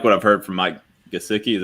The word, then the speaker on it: Gesicki: I just don't like what I've heard from Mike Gesicki, is how you say his last name, but